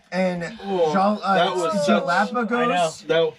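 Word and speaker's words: Galápagos: and Oh, that was such- Galapagos. That reflex. I know. Yeah. There's no G. I call them Galapagoses because I have decided they're called Galapagoses.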